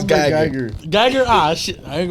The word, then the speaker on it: Guyger: It's Geiger. Geiger? Ah, shit. I ain't gonna say that. Yeah, you tried to. I ain't gonna let you pick it up. Botham Jean. Wait, what's the name? Amber what? Geiger.